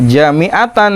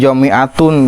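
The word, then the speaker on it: جامعةً: As-sholatu jami'atan di lain jami'atun, dibejaan itu jami'atun, jami'atan. As-sholata jami'atan, as-sholata di as-sholata jami'atan sebagai igro.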